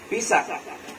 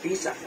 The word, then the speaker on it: Pesach: Nga ang word ani sa Hebrew word is Pesach. Oh, Pesach. Oh. Pesach. P-E-S-A-C-H. Pesach. So, pronunciation na is Pesach.